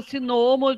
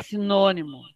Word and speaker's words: sinônimo: ai qual é o sinomo de tal coisa não é sinomo é sinônimo né a gente tem que